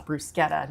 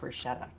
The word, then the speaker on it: bruschetta: she went on a rant about how people mispronounce it and it's brusetta, not bruschetta.